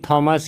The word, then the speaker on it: Thomas: ये लिखा गया है पीरी थॉमस या टॉमस के द्वारा। वैसे एग्जैक्ट उच्चारण टॉमस ही होता है।